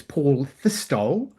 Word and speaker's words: Paul Fistol: I'd just like to publicly state the pronunciation of my name as Paul Fistol because on the platform gets it wrong all the time.